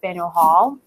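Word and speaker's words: Faneuil Hall: way a bit is a place called Fanueil Hall actually some of the locals I think pronounces panels but Fanueil Hall is a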